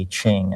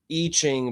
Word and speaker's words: I Ching: I Ching, but it's the letter I.